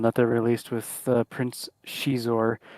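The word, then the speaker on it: Xizor: There's a big one that they released with Prince Shizor, even though I used to call him Zizor. That's better than what I said. Exor. Exor. So, yeah, it's Exor. Just pronounce it X.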